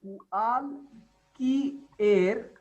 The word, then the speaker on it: cualquier: C plus U is ku. After that comes a. So ku plus a means kua. And then again Q plus U is pronounced as ka. So and after that follows I.